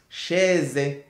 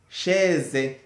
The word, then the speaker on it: chaise: Et puis quand tu trouves la lettre A, I et et I, ça donne le son e et et comme le e qui a l'accent grave. chaise chaise faire faire baisser baisser